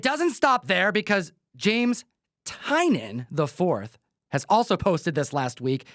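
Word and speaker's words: Tynion: everyone this is James tinan I 4th I'm sick of people saying tinan it's not tinan you just heard it it's tinan Let's Play It Again James tinan I fourth one of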